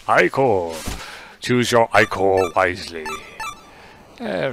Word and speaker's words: ichor: That's pronounced ichor.